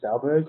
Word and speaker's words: Stahlberg: say your right name right the last name stelberg or is it pronounced a different way or yeah now in